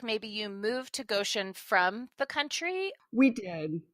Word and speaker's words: Goshen: rivers and they live as grateful neighbors in Goshen Indiana now Shannon first did I pronounce Goshen correctly you did it's perfect I